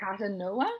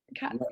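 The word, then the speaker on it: Katonah: Catanoa? Is that how you pronounce it? Sorry? Is it Catanoa? Katona. Katona. Katona.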